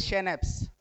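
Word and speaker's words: Schnaps: अब देखिए German word है, इसका उच्चारण जो इस तरीके से शेनेप्स, ठीक है, यहाँ पे लिखा भी मैंने SHNAPS, ठीक है ना, शेनेप्स बोलेंगे।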